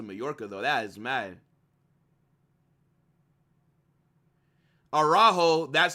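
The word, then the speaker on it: Araújo: Araujo, that's how you say his name.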